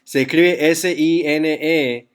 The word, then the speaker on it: sine: Así que hoy estamos aprendiendo dos radios nuevos de trigonometría, sine, que para encontrar sine se escribe S-I-N-E, pero los botones dice S-I-N, pero se pronuncia sine en inglés.